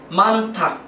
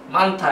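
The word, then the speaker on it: 많다: sit down তারপর হচ্ছে মানথা মানথা এটা লেখা হয়েছে মান যোগ ন যোগ হ যোগ দা মা প্রথম যুক্তবর্ণের যুক্তবর্ণের প্রথম ব্যঞ্জন বর্ণ ন সুতরাং এর উচ্চারণ ন এর মতই হবে সুতরাং এটা উচ্চারণ হবে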